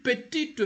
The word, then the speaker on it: petit: But the word itself, petit, when it is petit, the T is not pronounced.